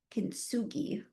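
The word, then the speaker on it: kintsugi: Um, kinugi is how you pronounce this.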